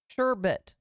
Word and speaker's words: sherbet: There's no R in it. Sherbet.